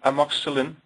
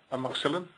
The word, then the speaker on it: amoxicillin: You see amoxicillin. How do you pronounce this? Amoxicillin?